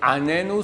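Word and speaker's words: עננו: Donc, il faut faire attention à ce qu'on dit, dire Anenu sans l'accent dans le N.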